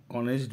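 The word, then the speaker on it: honest: রাম is dash অনেস্ট বয়। তাহলে রাম ইজ অনেস্ট, দেখো এইচ হলেও উচ্চারণ কেমন করছে, অনেস্ট।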